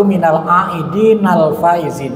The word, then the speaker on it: minal aidin al faizin: Arti minal aidin wal faizin sebenarnya secara gramatika redaksi yang lebih tepat itu minal aidin al faizin ya.